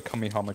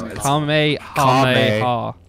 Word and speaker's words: Kamehameha: Now I've got a cummy hummer car, so. You got a one. Fuck, is that not how you say it? No, it's Kamehameha.